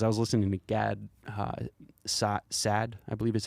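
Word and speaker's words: Saad: with him because i was listening to gad sad i believe is how you say his name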